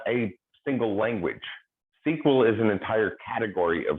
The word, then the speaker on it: SQL: language which we pronounced sql we'll go ahead and add some add in the missing vowels so that we can say that word because it's one that